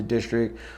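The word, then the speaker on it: DSTRCT: it uh district is if you look at it it's dist we pronounced the district but uh the word also is destruct so why there's no uh vows in it um cuz we wanted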